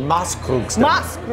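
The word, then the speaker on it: Maßkrugstemmen: Well, how do you pronounce it? Or Maskrugstemmen.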